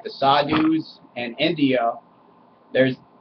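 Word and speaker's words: sadhu: smoke weed like the sadus and India there's which I'm pretty sure is pronounced sadu these people they're they're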